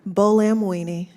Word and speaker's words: Buolamwini: Buolamwini.